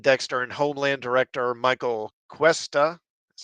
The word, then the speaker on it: Cuesta: Listing American Assassin, Dexter, and Homeland director Michael Cuesta, that's how you say it.